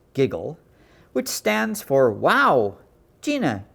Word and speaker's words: WGJL: to you live from station wgjl pronounced giggle which stands for wow